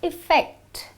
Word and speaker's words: effect: The word effect has the sound of a small I. So you say effect and it is a noun.